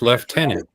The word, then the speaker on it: lieutenant: yeah you're right Tom why is Lieutenant pronounced left tenant the origin of the